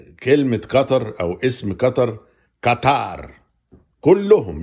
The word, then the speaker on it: قطر: العالم، يعني يصلحوا نطقهم لكلمة قطر بدل ما كانوا بيقولوها قطار. وكنت انا بقعد اتريق اقول قطار ايه؟ قطار السريع ايه؟ القطار ده قطر. قعدوا يعلموا بعض ويجيبوا برامج هنا يقولوا لبعض ده اسمها قطر، على فكرة ما اسمهاش قطار، اسمها قطر.